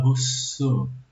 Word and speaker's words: Rousseau: Que esse carinha aqui, pessoal, esse último aqui, ó, Rousseau, se escreve Rousseau, mas se fala Rousseau. Rousseau. É francês, tá?